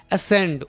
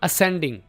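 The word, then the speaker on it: ascend: असेंडिंग। असेंडिंग डिसेंडिंग। असेंड का माना ऊपर चढ़ना। बोलना कैसे इस वर्ड को? असेंड। सी को यहाँ पर साइलेंट कर देंगे।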